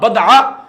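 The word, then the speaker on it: بَضْعَة: کا معنی یہ ہے، صحیح تلفظ بفتح موحدہ، کہ با کے فتح یعنی زبر کے ساتھ پڑھا جائے گا بدعہ، اور اس کا معنی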